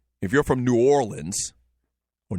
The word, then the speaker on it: New Orleans: Orleans if you're from New Orleans or New Orleans um I don't know what the proper way is to say it the people down there they say nin all like one word n a WL i